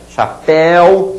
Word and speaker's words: chapéu: Olha a diferença de pronúncia. Chapéu, som estridente. Judeu, som abafado. Herói, som estridente. Afoito, mais abafado.